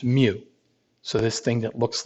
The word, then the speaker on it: mu: denote by this greek letter for lowercase m pronounced mu so this thing that looks like a u with a tail on is pronounced mu and that stands for the population mean the